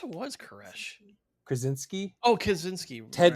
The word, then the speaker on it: Kaczynski: Oh, Kaczynski. Ted Right. Ted Kaczynski. Kaczynski. Yes. Yes. Yes. Yes. Another Polish name I know how to pronounce, I Oh, good.